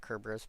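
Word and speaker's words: Cerberus: Yes, I pronounce it Kerbrus because you know Latin Latin Greek there's no soft sea in those languages.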